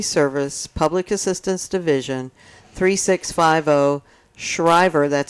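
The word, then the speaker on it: Schriever: office of emergency service public assistance division 3650 shriver that's spelled s-c-h-r-i-e-v-e-r avenue in mather california nine five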